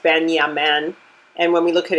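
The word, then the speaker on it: בנימין: And Benjamin's name is pronounced Ben-Yamin.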